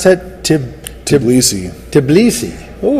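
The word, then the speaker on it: Tbilisi: How do you pronounce that? Tblisi.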